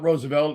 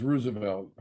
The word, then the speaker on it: Roosevelt: Just like it's not Roosevelt, it's Roosevelt.